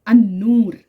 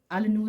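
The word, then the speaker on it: النور: जाएगा इसी तरीके से अन नूर अल नूर नहीं पढ़ेंगे अन नूर पढ़ेंगे इसी तरीके से पढ़ा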